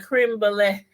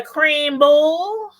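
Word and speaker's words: crème brûlée: a creme creme brulee I gotta say it right a creme brulee cheesecake see now somebody else would have said you had a cream bowl you had a cream bowl cheesecake oh the youngest one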